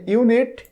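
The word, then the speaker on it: unit: Same প্রক্রিয়ায় এখানে ইউনিট, শুরুতে আছে ইউ, উচ্চারণটাও ইউ, এই জন্য এখানে আমরা অ্যান ব্যবহার না করে এ ব্যবহার করব।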